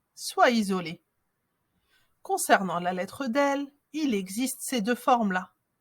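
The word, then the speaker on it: دال: La lettre del. Elle se prononce d, d, comme le D en français.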